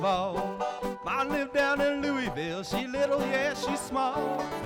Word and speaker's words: Louisville: song Louisville song no it's two syllables Lou Louisville Louisville have you ever lived